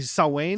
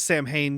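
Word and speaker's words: Samhain: Ry sa sa Wayne which everybody always says Sam Hayne because that's how it's spelled but it's Gaelic so it's sa you don't say any of the letters you see s's world except for the first and last letter the letters in the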